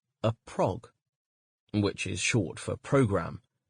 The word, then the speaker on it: prog: appearing in the 1970s it is pronounced so that it rhymes with slog and anyone who tells